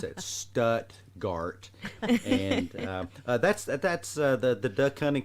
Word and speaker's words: Stuttgart: I had an old graduate school professor pronounce it Stuttgart. No. That's in Germany. We pronounce it Stuttgart, and that's the duck hunting capital of the world.